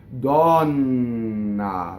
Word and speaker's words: donna: are engaged right right so the word for year on or the word for a woman gone nah right so double and you have phonation right the word for